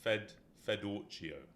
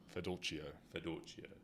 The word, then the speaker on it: Fedorcio: So it's Fedorcio. Fedorcio. Polish. Yeah, not Italian.